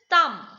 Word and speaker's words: thumb: the word next is thumb what is the thumb you can see in the picture thumbs up it is not thumbs up it's thumbs up b is silent next is climb climbed